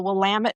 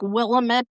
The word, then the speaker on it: Willamette: most people know the Willamette Valley the best and if you it looks like Willamette, but you think of it Willamette, dammit, is how you remember how to pronounce it.